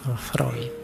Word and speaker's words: Freud: yang terkenal dengan psyoanalisisnya tulisannya fre bacanya Freud Awas keliru cara bacanya tapi ya nak apa-apal